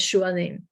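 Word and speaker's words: שועלים: If you can't read it, it says shualim. And you'll notice, if you do know your letters, there is a vav in shualim. The vav is a vowel in that case. You don't pronounce it.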